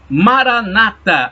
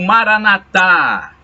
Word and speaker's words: Maranata: E Maranata ou Maranatá duas pronúncias. Maranata, falam os protestantes. Maranatá, dizem os católicos.